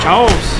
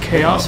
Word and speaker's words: Chaos: Chouse!